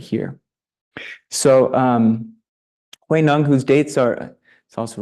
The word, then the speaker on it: Huineng: because she studied Chinese on encouraging us to pronounce it Huineng. So maybe we can all do that this month. What's that? What? Say it again. Huineng.